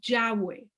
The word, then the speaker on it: Yahweh: Yahweh es la manera que nosotros pronunciamos las 4 letras del nombre de Dios o del nombre de nuestro Elohim. Yud, Hei, Vav, Hei son las 4 letras hebreas y nosotros le pusimos vocales y lo pronunciamos Yahweh.